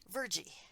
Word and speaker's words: Virgie: Virgie. Yeah. So Yes. it turns out it's pronounced Fergie.